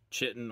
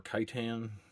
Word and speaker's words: chitin: have three materials this hard chitin armor or kaitan however you want to pronounce it um Titan Titan whatever